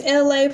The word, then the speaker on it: Elay: My name is Elay, pronounced like LA, like the city.